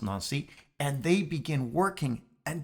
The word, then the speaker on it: Nancy: together in nazi friends spelled nancy pronounced nancy and they begin working